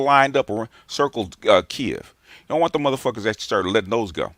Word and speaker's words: Kiev: started letting those go thank you for pronouncing it the right way bgs because i keep on saying hearing people say kev and i'm like yeah i'm like even news reporters are not saying kiev and i'm like am